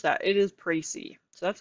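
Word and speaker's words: précis: pricey so if you're like how do I pronounce that it is pricey so that's how you say it um the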